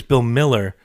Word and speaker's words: Mueller: Oh, you can say his name right, even though it's spelled... Actually, it's Bill Miller.